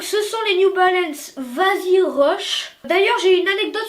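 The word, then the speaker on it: Vazee: sur ce nom vas-y ça s'écrit V a Z e e ça vous cause non mais c'est en fait c'est un coup marketing de la de New Balance qui a décidé de franciser le nom donc vas-y c'est comme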